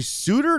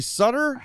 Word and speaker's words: Suter: heard of him wait it's Gary Suter not Gary Sutter trade this guy so